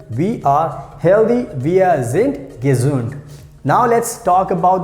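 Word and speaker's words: sind: like via saint gesund whenever you have d we pronounce like t i have told many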